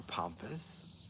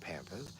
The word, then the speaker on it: pampas: a couple more things this is pampas grass and our pompous I pronounce it Pampers but this is a